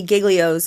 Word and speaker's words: Giglio: so good so you shared um Lou Lou giglio's quote that which is just such a great